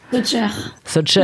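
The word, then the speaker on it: Sojcher: Est-ce que je le prononce bien déjà? Socher, hein, comme ça, tu vois.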